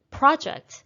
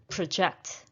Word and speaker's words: project: the project in time project is a noun so we're stressing the first syllable if i want to use this verb use this word as a verb it becomes project project noun is project project number four i will